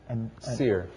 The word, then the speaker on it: Seir: 암몬과 모압과 Seir. the That's how I pronounce it. the seer prophet actually, right? No, S-E-E-R. Seir is S-I-E-R.